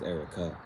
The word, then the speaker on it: Eriqua: It was her name wasn't Eriqua, it was spelled like that. It was Erica.